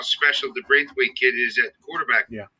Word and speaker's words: Braithwaite: Is that pronounced? Braithwaite. Okay, I got to give him a nickname.